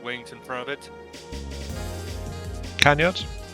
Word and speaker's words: canards: plane, while it had 2 Conrad, how you pronounce those front wings in front of it? Canyards? Canards.